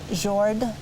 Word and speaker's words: Jord: and the earth, or the Himmel, and Jord. Did I pronounce that correctly? Yes, yes, that's good.